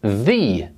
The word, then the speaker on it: the: a vowel we say thee the elephant the octopus the owl but if the next word begins with a consonant we use the pronunciation the the building the table the boy the girl